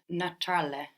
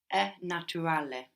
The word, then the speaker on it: naturale: We have in English natural, but in Italian you will pronounce the T like a T. Naturale. So Italian likes consonant vowel, so you will really split that up. So like where in English we eat that U up, natural. We completely eat it up, but it's there. So in Italian we're going to pronounce that U clearly like an U.